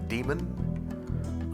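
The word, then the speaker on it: daemon: So, um this is demon spelled with an ae instead of an e. So, I'm pretty sure it's still pronounced demon.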